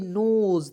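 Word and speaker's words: nose: यहां तक यहां देखेंगे एन ओ एस ई नोज तो एन का उचार न के रूप में ओ है इसका उच्चारण ओ के रूप में और एस है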